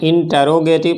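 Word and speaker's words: interrogative: इसका 2 ही प्रोनाउंसिएशन है, इंटरोगेटिव pronoun या इंटेरोगेटिव, टेरो या टरो, बाकी ट्रो बिल्कुल नहीं, इंट्रोगेटिव बिल्कुल भी नहीं।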